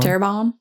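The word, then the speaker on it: Terrebonne: Tabon Parish. Did I say it right? Terabon. Terabon.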